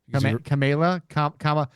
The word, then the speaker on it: Kamala: I honestly don't know a lot about Harris, but I do know that, well, first I know how to pronounce her name. Kamala, Kamahama.